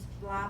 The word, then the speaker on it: blah: And remember the pronunciation is blah, blah, blah. L, not R.